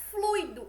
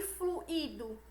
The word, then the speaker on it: fluido: gratuito fortuito e fluido o acento tônico está no ruim e não rir ou seja como a gente já viu o certo é pronunciar gratuito fortuito e fluindo e não e como se fosse gratuito fortu Ito e fluido certo o que o